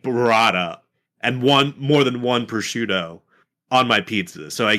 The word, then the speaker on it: prosciutto: Not It's a prosciutto. prosciutto. It's a prosciutto. It's a prosciutto. But they cut that last word off, so I get it now. Okay. The last syllable, yeah.